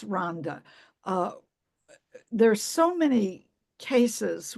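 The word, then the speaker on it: Rwanda: um and in Rhonda it's spelled Rowanda but pronounced Ronda uh there's so many cases where women have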